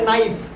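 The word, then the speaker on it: knife: जैसे नाइफ, नाइफ में भी क्या है KNIF, नाइफ में क्या होता है चाकू छुरी जो भी, ठीक है, उसमें क्या है K साइलेंट है ना, समझ रहा है ना।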